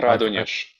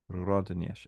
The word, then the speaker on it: Радонеж: I Радонеж. Rodon Сергий Rodanesh. Радонежский. Yeah. Rodanesh.